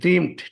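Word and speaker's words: dreamed: আই ড্রিমড, টি উচ্চারণ হয়েছে, আমি স্বপ্ন দেখেছিলাম।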